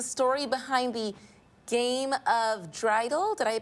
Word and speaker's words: dreidel: Can you tell us maybe some more about the traditions, like the story behind the game of dreidel? Did I pronounce that right?